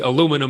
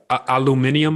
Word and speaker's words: aluminium: a battery okay uh i say aluminum so we pronounce it a little differently but when you look at the aluminum market sorry i it would be hard for me to say it the way you say it aluminium i believe you said